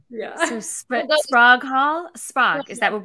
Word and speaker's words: Sprague: And then, of course, they sort of Sprague.